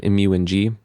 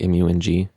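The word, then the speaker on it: IMYOUING: track from my album mu and g that's i-m-y-o-u-i-n-g but you say it like like m-u-n-g this stands for modified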